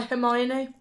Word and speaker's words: Hermione: I love the way you say her name. Hermione? Yeah. I used to think when I was reading the books that it's Hermione. Yeah, but you go, Hermione. I always say Hermione.